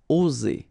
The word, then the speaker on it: oser: Okay, it's interesting here because you've got only one S between two vowels. And normally the pronunciation you will get when you get only one S, it's Z. Okay, oser.